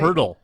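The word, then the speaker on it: Pöltl: got Jacob, was that Poteet? Or I don't even know how you say his name. Pirtle. Pirtle. I swear to you, it's Pirtle, even though there's no R.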